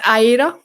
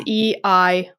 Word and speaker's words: Eira: It's Aira. So it is Eira. Aira. It's like the female version of Eric or Air.